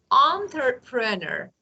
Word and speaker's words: entrepreneur: this word should be pronounced entrepreneur. Entrepreneur. Entrepreneurs. Of course, it's not E, it's entrepreneur.